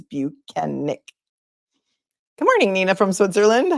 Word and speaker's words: Bukhenik: Michael Proctor number two he taught us how to pronounce his name and it is buenik good morning Nina from